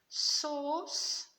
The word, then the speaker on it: sauce: Sauce. It sounds like two S's, but this one is a C. Please don't think it's a K.